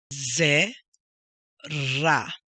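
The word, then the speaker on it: זרע: Ze, ra. Now, there's an accent right here, so that's where the emphasis goes.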